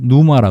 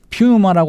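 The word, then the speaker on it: πνεῦμα: 그래서 영은 누마라 그러죠. 헬라 말로. 네. 뉴마. 예. 피우마라고 하지 않고 누마라고 푸마. 발음한 거예요. 그 처음에 피가 묵음입니다. 묵음.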